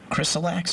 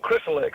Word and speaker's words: Chrysalix: Chrysalax, is that how you say it? Chrysalax? Oh, Chrysalix. Yeah, that's a consultation tool that we use.